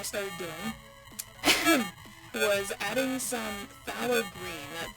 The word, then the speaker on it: phthalo: doing was adding some phthalo green that that kind of sounds weird to pronounce but it's it's spelled p-h-t-h-o-o um it's a it's a